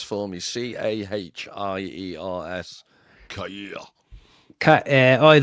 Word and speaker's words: Cahiers: Cahiers. Like the magazine Cahiers du Cinéma.